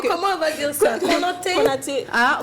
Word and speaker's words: Konaté: Konaté. Ah, Konaté. Alors, le ko là, c'est kou.